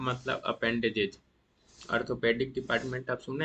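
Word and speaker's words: Arthropoda: Orthopaedic department आप सुने हैं ना जो जॉइंट के डॉक्टर होते हैं तो ओ आर होता है। यहां ए आर है। इसको भी याद रखिएगा। ऑर्थोपोडा लेकिन दोनों का प्रोनाउंसिएशन एज सेम है।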